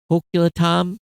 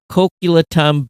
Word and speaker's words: Coquitlam: Coquitlam, British Columbia, Canada. He says, have fun pronouncing that city name. Most people have trouble with it. Coquitlam, British Columbia.